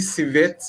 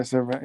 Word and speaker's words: Servette: Fortunate enough to win against is it Civet or how is it pronounced? Civet. Yeah, Servette, yeah.